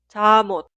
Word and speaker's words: 잠옷: La consonante final 미음 se traslada al lugar de i응 en la pronunciación. Por eso suena 잠옷, 잠옷, 잠옷.